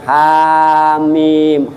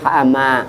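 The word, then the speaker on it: حم: kan pendek-pendek ya Bu ada yang ha mim hama ya Bu Jangan beracanya hamaah HAM mim ada tho Sin mim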